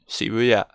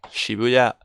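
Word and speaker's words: 渋谷: Y luego Shibuya, que es como decimos Shibuya. Nosotros siempre lo pronunciamos como Shibuya. Por las normas de acentuación en español siempre decimos Shibuya, pero es Shibuya. ¿Ok?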